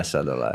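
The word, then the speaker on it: Sadulaev: Sadulev, is that how you say it? Sadulev? Yeah, Sadulev.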